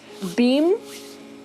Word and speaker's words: Bheem: And so I'm rooting for, this dude's name is Bheem. It's spelt B-H-E-E-M. He's like a beam of water.